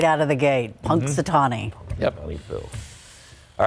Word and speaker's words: Punxsutawney: one name you had to learn how to pronounce right out of the gate Punxsutawney yep all right the Spurs getting ready for